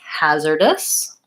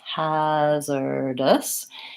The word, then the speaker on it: hazardous: In the word hazardous, we have first syllable stress, hazardous. And it kind of looks like it should have more of an R sound with the AR there, but we really say it more like an hazard. It's vowel A in the first syllable, so just like the word has.